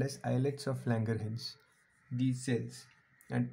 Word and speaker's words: islets: as eyelets of langerhans this s is silent here so they are called as islets of langerhans these cells